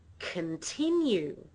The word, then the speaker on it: continue: I make it weak so we don't use a full vowel there because all of the stress is on the second syllable we say continue the first syllable is weak right then and the